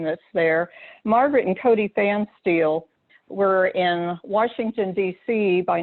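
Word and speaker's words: Pfanstiehl: audio description then in 1981 margaret and cody fan steel that's how you pronounce that rather weirdly spelled name that's there margaret and cody fan steel were in washington dc by 1981 and they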